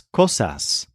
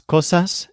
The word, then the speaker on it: cosas: Make sure to pronounce the final S as a hard S. S. The Z sound that we use at the ends of words in English doesn't exist in Spanish.